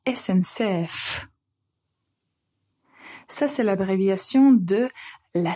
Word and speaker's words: SNCF: France c'est SNCF donc quand vous le prononcez bien c'est la SMCF la SNCF ça c'est l'abréviation de